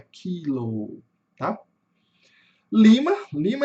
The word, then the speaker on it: Lima: Aqui nós temos um I curto. E o I curto ele tem som de i mesmo. Então ele vai ser lima, tá? Lima. Lembrando sempre que a sílaba tônica tá no começo.